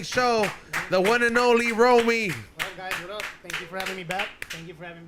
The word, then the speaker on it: Roamy: have an upcoming show the one and only romy thank you for having me back thank you for having me xavier types your name wrong he calls you romay romey i hate that former pisces